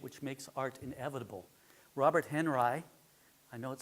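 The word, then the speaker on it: Henri: that Henry or Audrey he pronounced it Henry as far as I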